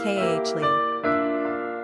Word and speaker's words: Kali: Quick facts on Kali. Gender, girl. Origin, English. Number of syllables, 2. Ranking popularity, 363. Pronunciation, Kah-Lee.